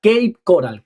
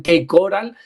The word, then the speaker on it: Cape Coral: Eh, tengo que decir esto porque para mí la pronunciación como es rara, yo pensé que el primer día cuando me dijeron K coral era K e I. No, no, no, no es cape que me dijeron, "Aprende inglés, mi hijo", me dijeron.